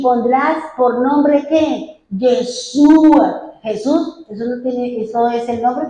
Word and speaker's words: Yeshua: En hebreo se dice Yeshua, y Yeshua tiene las 4 letras con las que se escribe Yu, He, Va, Hei.